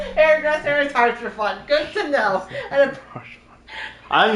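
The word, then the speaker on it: Haurchefant: Harshafon. Hairdresser is Harshafon. Good to know. And I'm not gonna remember how to pronounce that.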